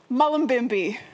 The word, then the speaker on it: Mullumbimby: Now tell everybody where you're from, where the town, because I can't pronounce it. Mullumbimby. Oh my goodness. Mullumbimby, if you want to do it the way you do it. Mullumbimby.